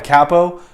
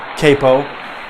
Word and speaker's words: capo: Capo is, some people mispronounce it and they call it a capo. Don't listen to those people. Those people are on drugs. Stay away from them. It's a capo, and it's this thing right here, and this